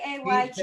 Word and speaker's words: Hester: Kate Hester. Kayte. Yeah, she is so funny. Hestr. Hester, Hester, like Hester Prynne.